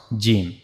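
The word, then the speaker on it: جيم: As you can see here this is the middle of the tongue and it will connect it will meet to the roof of our mouth and that's how we can easily pronounce jim.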